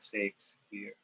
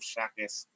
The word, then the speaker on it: Shakespeare: how to read that shakespear so yung mga fast grade 9 stupid they do not know how to pronounce this they are pronouncing this as William shakespear William shakes my God and I was